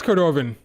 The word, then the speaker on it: Cordovan: That's a Cordovan. What's her name? Cordo. Cordovan. I don't remember her actual name. I just remember Cordo. It's Cordovan.